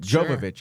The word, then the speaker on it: Jovovich: cookie and milovich milovich it's always so intimidating to read it but joic is the name she look at it